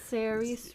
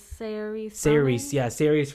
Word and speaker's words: Saoirse: I can never pronounce her name. I think Saoirse Ronan.